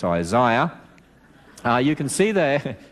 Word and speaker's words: Isaiah: i know you say isaiah in america well that's incorrect the eye is in the middle it's isaiah uh you can see